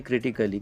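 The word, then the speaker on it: critically: उसके बाद में क्रिटिकली, क्योंकि ए के बाद में डबल यल वाई आया है।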